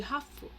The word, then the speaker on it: ハーフ: やっぱりなんかハーフだから見られた時とか Tem uma coisa que no Japão eles costumam chamar essas pessoas de hafu, que é de half, né? H-A-L-F, metade, né? Então ele chama essas pessoas de Hafu, tá? Que é a maneira como eles acabam pronunciando.